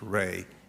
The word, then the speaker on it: Rhea: an Irish lady whose last name was R-H-E-A, pronounced Ray. And they took that name on and then came to the colonies. Thank you. But that's where it came from, and it's Irish, and it's Ray.